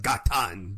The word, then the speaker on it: Ghatan: are you doing so far out into the gatan desert that's the only way I know how